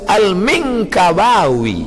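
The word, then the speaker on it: Al-Minangkabawi: Saya masa tengok apalah cara baca ni, alif lam mim nun kaf ba alif waw ya, rupanya lama saya baca Al-Minkabawi, Minangkabau.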